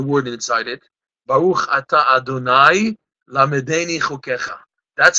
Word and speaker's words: Adonai: Baruch Ata Adonai Lamedeni Chokecha. That's how we pronounce it. Ado, and afterwards the Nai.